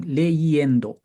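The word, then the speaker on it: leyendo: to add a why the reason is because actually the E should be e Endo but the pronunciation leendo so the I becomes y for that pronunciation leendo these days I'm reading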